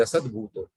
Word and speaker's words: असद्भूत: वाच्यो भवेद असद्भूतो, यहाँ पे असद्भूत है तो द पे थोड़ा सा जोर लगा के बोलना है, अदरवाइज भवेद सद्भूतो बनाएंगे तो ये सद्भूत व्यवहार हो जाएगा।